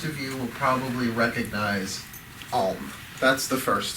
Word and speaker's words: Om: Om, really spelled A-U-M, but Om is O-M is how people think of it, is the universal sound because it goes supposedly from the, depending on how you say it, the largest mouth opening to the smallest.